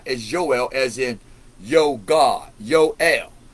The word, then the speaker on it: Joel: We know that in the Bible, Joel is two syllables, Joel.